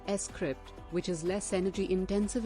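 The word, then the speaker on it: scrypt: litecoin uses a different proof of work power consensus mechanism than bitcoin called script pronounced s crypt which is less energy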